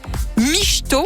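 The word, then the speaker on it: mișto: en l'occurrence ou alors ça viendrait d'un terme roumain micho on le prononce comme ça mais ça s'écrit m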